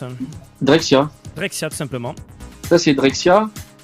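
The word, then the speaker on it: Drexciya: Alors, j'arrive pas à le prononcer, comment ça se prononce hein Drexia. Drexia, tout simplement.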